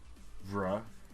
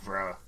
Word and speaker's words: Vrh: It's VRH is pronounced vra. Fine, whatever. Next time I see it, I'll be like vra.